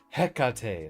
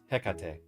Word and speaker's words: Hecate: I think it should be a hard H for, Hecate is how I pronounce it. Hecate.